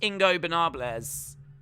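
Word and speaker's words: Ingobernables: got ingo bernard leon ingo banable i believe mexican for ungovernable los ingo banables is the ungovernables so i think that's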